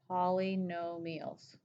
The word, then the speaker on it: polynomials: Poly, P-O-L-Y, no meals, M-I-A-L-S. Polynomials. It's pronounced meals like the food, not miles.